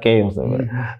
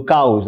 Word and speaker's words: caos: Eu estava a pronunciar chaos. Do caos, assim, né? Caos é isso? Caos. Sim, caos em português.